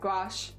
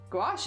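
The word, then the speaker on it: gouache: Gash. Guash. Gouash is how you say it.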